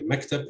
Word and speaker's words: maktab: An example of this is the word maktab. So you'd say maktab and Riyadh. So the first heavy syllable from the left edge of the word is stressed.